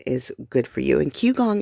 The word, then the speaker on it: qigong: good for you and q gong is spelled k uh not k sorry q i g o n g is not spelled the way it sounds there's no u and there's no k there's no c and even just a